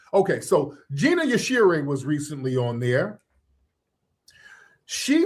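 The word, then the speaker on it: Yashere: Is it Yashir or Yashiri? How am I pronouncing it right? I I want to be respectful of people's names. Is it Gina Yashiri or Yashir? All right. Let me see. Okay. Yashir. Okay. So, it is Yashir.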